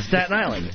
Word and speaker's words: Staten Island: Island Staten Island okay teach me how to say it Jimmy Staten Island Staten Island Staten Island Staten Island yeah stattin Island Staten yeah my tongue goes the other way St St it's it's